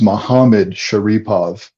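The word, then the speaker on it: Magomedsharipov: way mamed sharapov yeah the G is pronounced ha khabib pointed this out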